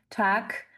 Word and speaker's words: Tag: Attention à la prononciation aussi tac. Vous avez le g à la fin qui se prononce que hein.